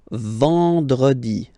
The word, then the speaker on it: vendredi: Then EN, nasal, and it's en. So remember, vendredi.